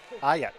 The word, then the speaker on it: Aucutt: Aucutt. Yeah. Aucutt.